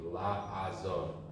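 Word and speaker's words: לעזור: Now you know if the first one's an ayin, it's gonna be la. It's gonna be la azor.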